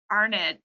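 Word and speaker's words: Arendt: life um and then Hannah uh arnet I believe is how you say it she's was a German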